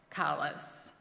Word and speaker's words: Collis: Uh, they are Irish and we know that sometimes Irish surnames are not necessarily pronounced the way they are spelled. It is pronounced Kalis.